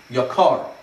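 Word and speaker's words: יָקָר: Most people get this right, but it is Yakar. Even though the dechi is on the yud, once again it's a dechi, so the accent is on the kuf, the second syllable.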